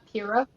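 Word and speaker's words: Purah: Pura.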